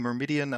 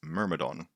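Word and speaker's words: Myrmidon: I keep saying Mermidian, and I will probably keep saying that cuz it makes people annoyed, and that amuses me in a kind of like gentle, non-spiteful way. I am saying it wrong. I absolutely am. It's Mermodon from the Greek Mermadon meaning ant nest.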